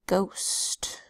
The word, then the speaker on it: ghost: G H I can ghost and the H is silent but the gh together says and we will study